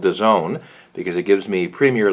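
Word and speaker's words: DAZN: I have nothing wrong or nothing bad to say about Dezone. D-A-Z-N is how they pronounce themselves.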